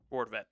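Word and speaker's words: Rortvedt: Brett Roarvent, how do you pronounce Ben? Ben Roent.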